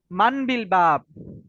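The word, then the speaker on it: من بالباب: ইনশাআল্লাহ সবাই লক্ষ্য করি মানবিল বাব মান বিল বাবি মান বিল বাবি এটা উচ্চারণ হলো মান বিলবাবি উচ্চারণ দেওয়া আছে এখানে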